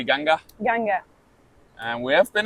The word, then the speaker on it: Ganga: But I thought it was Gangas. How do you say maybe in German? How do you say in your g the G River? That's why she said G maybe. Yeah. But yeah, in India they say Ganga.